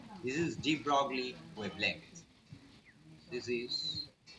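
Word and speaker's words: de Broglie: This is ডি ব্রগলি wavelength. This is জি, ডিটা ছোট হাতের, ব্রগলির beta বড় হাতের, এল আই ই, ডি ব্রগলি wavelength. এর অ্যাকচুয়াল উচ্চারণ, ফরাসি উচ্চারণ দ্য ব্রই।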